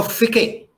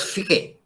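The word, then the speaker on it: Fichte: So Ficke, F-I-T-C-H-E, they pronounce as Ficke.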